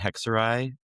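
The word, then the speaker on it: Hexerei: Pow-ow, browery, and hexuray. I don't know if I'm pronouncing that right.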